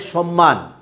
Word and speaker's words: সম্মান: ময়ের সাথে ম যুক্ত হলে ময়ের উচ্চারণটা অবিকৃত থাকবে।